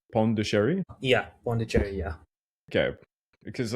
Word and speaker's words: Pondicherry: Uh, Bond, okay, in English, you pronounce it Pondicherry.